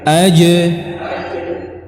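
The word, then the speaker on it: ج: Ja misalkan, ja ini salah. Ja, tapi yang benar ja, aje, bukan aje, ya. Ci salah. Aje, ja, ji, aje. Ya, ingat tidak dikeluarkan udara pada pengucapan huruf ini. Ini yang sering kita salah. Kita mengucapkan aje, ya, ini tidak benar. Yang benar adalah aje, ja, ya.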